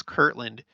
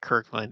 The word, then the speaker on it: Kirtland: Kirtland in the thumbnail I know it's Kirtland it may just sound the way that I speak like Kirkland it kurtland okay it's just the way that I talk do I need to